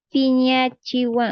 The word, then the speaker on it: piñi: changi me haces enojar piñi o sea es con p no con f no eh pronunciamos Como F pero se escribe con p y si usted aprende